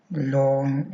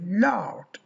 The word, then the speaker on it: loud: L ow loud loud we don't say Lo we say loud loud gown gown gown house